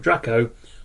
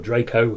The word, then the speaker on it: Draco: There are a lot of not very bright stars, most of which belong to the constellation of Draco, or Draco, how you want to pronounce it, the Dragon.